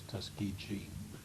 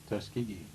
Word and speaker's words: Tuskegee: he referred to do it that way as Tuskegee the person who followed him pronounced it correctly Tuskegee and as soon as he did the first